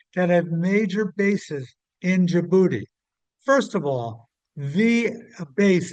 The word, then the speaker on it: Djibouti: There is down along the Bab el Mandeb Strait on the Red Sea a small city state called Djibouti. It's spelled Djibouti.